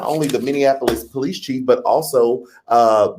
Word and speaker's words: Minneapolis: uh of uh the minap uh police and am I saying that wrong somebody told me I'm saying it wrong minap right minap Minneapolis Minneapolis Minneapolis Minneapolis Minneapolis it's Minneapolis the Minneapolis Police Chief